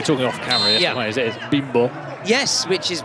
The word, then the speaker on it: Bimbo: And you have to be careful how you say it. Exactly, that's why I said Bimbo. Yeah, no, you don't. The Spanish, you say Bimbo in the English, where it has a very different meaning to Bimbo, which is the brand.